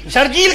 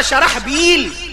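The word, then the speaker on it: शरहबील: नहीं प्रोनंसिएशन सही नहीं उसका नाम था शर बील शर अलग बील अलग शराबल उसको पढ़ा शरजील यह तो गलत पढ़ा एक गलती दूसरी काबिलियत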